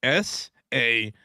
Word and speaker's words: salmon: How do you say the word SALMON?